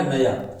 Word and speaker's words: knew: मतलब होता है जानना, और एक होता है न्यू, KNEW, एक होता है NEW। तो KNEW का मतलब हो गया जानना और NEW का मतलब हो गया नया, दोनों का उच्चारण है न्यू।